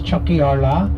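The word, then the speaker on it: Tiocfaidh ár lá: itself the Kenya that's chat AR La phonetically which means Chucky Arla which means Our Day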